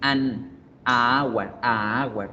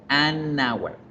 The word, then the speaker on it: an hour: No suena bonito, a hour. Se debe pronunciar an hour, an hour, an hour, porque de esa forma hay una fluidez, se escucha mejor y cumple con la regla que estamos viendo.